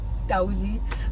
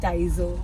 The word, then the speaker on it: Taizo: Guys, now you need to guess what is the name because my mom pronounces it as Tauji, but the real name is Taizo.